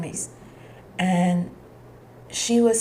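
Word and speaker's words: Myss: I think that's how we pronounce her name. Mice. Mace. Caroline Mace.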